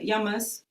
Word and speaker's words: Yama: our Sanskrit pronunciation, and the S I put on sometimes is actually only an English version of it. So Yama and Niyama, the plural is the same.